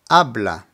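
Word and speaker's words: habla: pronunciation is Jesus Jesus the ancient Spanish is silent so here we have abla ABA which means he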